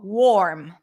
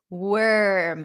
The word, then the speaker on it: worm: you to want to say oh warm but it's not it's worm it's kind of like you eliminate the O worm work now work